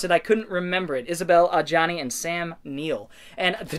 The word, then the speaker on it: Isabelle Adjani: Possession from 1981 with Sam Neill, and I can't pronounce her name. Isabelle Adjani, that's right. I could pronounce it, I couldn't remember it. Isabelle Adjani and Sam Neill.